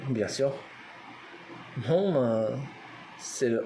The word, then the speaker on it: Hmong: Pour le Hmong, pour le mot Hmong, bien sûr. Hmong, c'est le H. Il y a le H dedans, on le prononce.